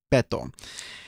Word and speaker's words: Beto: Yeah, because if for Spanish words, if the end of the word ends with either N or S or a vowel, then the natural emphasis goes on the second to the last syllable.